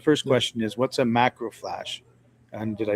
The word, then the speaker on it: macrophage: So, the first question is, what's a macrophage?